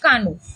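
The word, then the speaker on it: cano: তো তার হচ্ছে একটা মানে ওই মহাকাব্যের একটা লাইন ছিল, প্রথম লাইন, মানে ফেজ বা প্যাসেজের প্রথম লাইন ছিল আরমা ভিরমিকুয়ে কানু।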